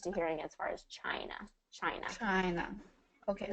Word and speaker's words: China: hearing as far as China China China okay so it's a i CH China China I just like you would say the letter I I China ch ch